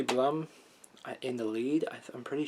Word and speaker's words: Blum: Blum in the lead, I'm pretty sure. I think. Which is pretty cool. Stephen J. Bloom, actually, is how you say that, whatever.